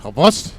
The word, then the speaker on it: Havost: And in the North, we have in Light Oak 10, it is Havost, as I have been told that's how it's pronounced.